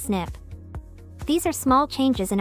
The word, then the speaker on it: SNP: single nucleotide polymorphism or SNP pronounced snip these are small changes